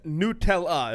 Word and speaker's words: Nutella: assume so it's uh it says Nutella is the way you're supposed to say it so I'm saying it